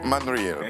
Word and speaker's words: Manareal: Man Riel, pardon. Man Riel, voilà, il faut le prononcer ainsi.